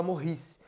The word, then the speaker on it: Maurice: um cara chamado Morri Morri se escreve Maurice mas fala morresse Guilherme morri Hickmann Ele